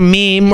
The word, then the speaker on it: meme: helped others this is a meme or a mem depending on how you want to pronounce it right the mark created